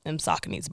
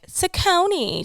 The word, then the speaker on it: Saucony: all she kept on her feet was them Sauconys, bro. And she would always love to correct people when they would say it wrong, when they would be like, Saucony.